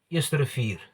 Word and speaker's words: Eerste Rivier: If you ask a person that speaks fluent Afrikaans or just Afrikaans, you would say Eerste Rivier.